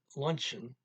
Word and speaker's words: lunchen: Een vrouw is aan het lunchen in een restaurant. A woman is having lunch at a restaurant, and that luncheon has a CH in it, but it's an English pronunciation, borrowed English word here.